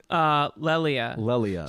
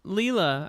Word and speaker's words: Lelia: It's Lelia. Lelia. Yeah, I thought Leela. I thought for years. I thought Leela too, but it's Lelia.